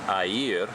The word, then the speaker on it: air: blue blue a year mineral a year which is spelled like air is actually the word for water so when you think air you think water kind of weird put